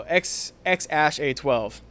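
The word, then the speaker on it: X Æ A-12: The AE is Ash, and then A12. So X Ash A12.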